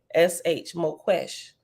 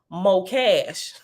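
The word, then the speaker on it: Moqesh: trap and oh oh I pronounced it wrong both ways and is pronounced more cash m o m o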